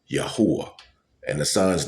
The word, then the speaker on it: Yahweh: Whether you speak English, Spanish, Yahweh's name is Hebrew. I don't care if you speak English, Chinese, Mandarin, uh, or whatever angel. There's a many, many, many languages in the earth. The pronunciation and the saying cannot change. It is still Yahwh.